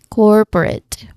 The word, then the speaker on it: corporate: Let's start with the first syllable which is the stressed one. Right? It's core. Now this sound is similar to the or in fork or morning. Right? It's a longer vowel sound.